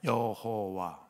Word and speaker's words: 여호와: 아도나이에서 자음을 떼어내고 모음만 갖다가 야훼라는 단어에 붙여버렸어요. 그랬더니 읽어져. 뭐라고 읽어지냐? 여호와.